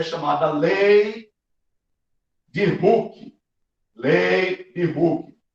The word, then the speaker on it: Hooke: Essa forma é chamada lei de Hooke. Lei de Hooke. Não é o incrível Hulk lá do cinema, não. É Hulk, se escreve assim, O-O-K-E.